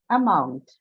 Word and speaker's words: amount: Amount. Amount. Amount is which word class? What is it? Noun, verb, adjective, amount. Noun. Noun. So where is the stress? Second syllable. Why? Mount. It should come on mount.